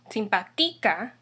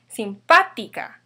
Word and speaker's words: simpática: So the stress will fall on the I, the English I, simpática, if there's no accent. However, in reality, we pronounce it as simpática. The accent actually falls on this A right here, which means this word